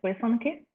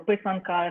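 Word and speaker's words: писанки: Is pisanki, or how do you say it? Yes, Ukrainian so egg dye. The Ukrainian term for it is pisanki, or pisanka if it's singular.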